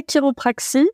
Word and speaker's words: chiropraxie: sommes tout oui alors la chiropraxie donc on chiropraxie mais en effet ça s'écrit chi c'est une profession de